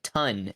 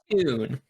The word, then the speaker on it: Tun: like that looks like ton instead of tune. So put in Okay. Cats okay. don't spell. Cats don't spell, so it's TUN, but it's pronounced tune.